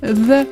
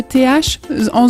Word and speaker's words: the: Pour prononcer the en anglais, fais bien le TH en zozotant. The, tu mets ta langue entre les dents et tu essaies de faire un Z zozoté. The.